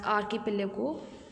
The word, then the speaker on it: archipelago: Don't pronunciate it as archipelago. इसको आप archipelago मत बोलना. This is archipelago.